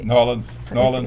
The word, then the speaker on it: New Orleans: New Orleans?